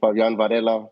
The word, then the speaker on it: Fabian Varela: said it correctly, the way we should say Fabian Varela, which is the correct way to Well, pronounce it.